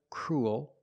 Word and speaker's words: cruel: We see with the first three, they're pronounced pretty much the same. Cruel, gruel, and duel. They all have the oo sound plus a dark L, ool, like pool and cool.